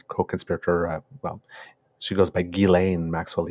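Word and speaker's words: Ghislaine: goes by gilain Maxwell even though her name is spelled Jen in French we would say Jen but gillain Maxwell is that what she goes by uh yeah it would say jlen as well but they say gilain yeah g um so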